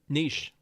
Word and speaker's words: niche: Niche.